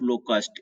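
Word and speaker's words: locust: होता है उसे बोलते हैं अ प्लेग ऑफ लोकस्ट इसको बोलते हैं plague a plague of लोकस्ट इसका उच्चारण लिख देता हूं इसको काट देता हूं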